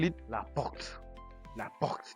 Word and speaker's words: porte: we call it la porte. La porte. There's an R in between, so that's why you help me pronounce the R. Porte.